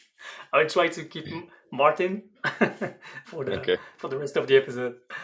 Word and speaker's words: Martin: Do you prefer Martin or Martin? In English, more often Martin because people understand it better. But you can Alright. say it the French way.